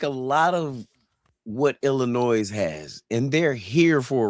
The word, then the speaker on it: Illinois: The S on Illinois is silent.